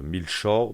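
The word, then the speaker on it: maillechort: Et euh le deuxème c'est un alliage de l'anglais, ça se dit mil short de souvenir et ça s'écrit un peu comme my my short.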